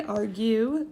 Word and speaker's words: argue: you caught that but if you say argue you hear the you saying its own name which makes it along U and therefore not silent